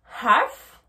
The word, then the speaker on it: half: Et vous avez remarqué aussi que je n'ai pas prononcé le L, d'accord? Donc le L, on l'écrit bien, mais à l'oral, on ne le prononce pas. Je ne dis pas half, je dis half. Entendez bien la différence. Quarter, quarter. Half, half. Donc on ne prononce pas le R de quarter et on ne prononce pas le L de half.